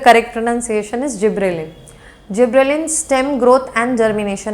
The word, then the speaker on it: gibberellin: सो इट is actually the correct pronunciation is जिबरेलिन।